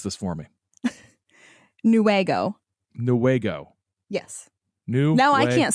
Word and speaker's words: Newaygo: Wait, it's not wag like a dog's tail. So pronounce this for me. Newaygo.